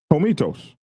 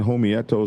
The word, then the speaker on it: Homietos: Uh Meeklo 1%er for teaching me how to say Homitos. I was saying Homeyatos and all kind of crazy I apologize for getting y'all's name wrong.